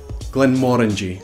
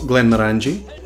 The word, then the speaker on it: Glenmorangie: not Glen levy that would make you french Glenmorangie it's not Glenmorangie is Glenmorangie blender office blender office so here